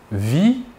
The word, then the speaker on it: vis: Nous ne prononçons ni la S finale ni la T finale.